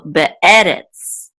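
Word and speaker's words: בְּאֶרֶץ: So the accent is on this syllable right here. So be'eh. And this is a resh with a sigol and a tsadi, so feet at the end, which will say retz, retz. So be'eretz, be'eretz. Okay, so this is in the land.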